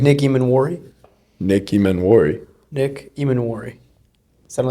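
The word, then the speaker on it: Emmanwori: Nick Imanwari. Sounded like you said Nicki Minwari.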